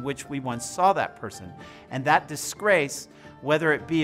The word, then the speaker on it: persona: This complex discourse on what defines a person's identity from a man who mispronounces persona as presona.